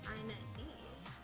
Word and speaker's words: inetd: The internet daemon, pronounced INET D.